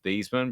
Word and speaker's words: Theismann: It was Theismann, but they changed it to Theismann because it rhymes with Heisman.